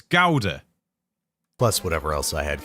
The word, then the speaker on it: Gouda: Why do you Americans say Gouda instead of Gouda? It's Gouda.